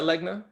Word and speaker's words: Legna: to say it wrong a leg in hispanic in english it's a league a league but you prefer legna yes backwards yes all